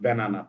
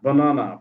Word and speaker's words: banana: ব্যানানা বলি, ব্যানানা, নট ব্যানানা, বানানা, বানানা, বানানা, বানানা।